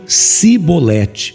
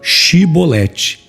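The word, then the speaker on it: Shibboleth: eles iam falar chevrolete Eles não pronunciavam este som de CH e acabava saindo o som de s então eles a cebolete ao invés de falar chibolete com isso eles eram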